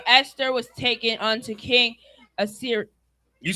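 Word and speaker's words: Ahasuerus: So Esther was taken unto King Assyrius. You said it right, nephew. Go ahead. Assyrius.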